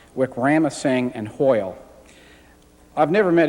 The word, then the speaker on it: Wickramasinghe: Gish cited, I think it's pronounced Wickramasinghe and Hoyle.